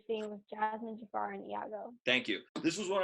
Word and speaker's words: Iago: the name of the parent ah yeah it's pronounced Iago but it's with an eye the Chairman had